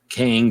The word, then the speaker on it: Kang: all of Marvel Comics King but different than 10 Teenage Mutant Ninja Turtles king that's Krang yeah just remove the r it's it's otherwise it's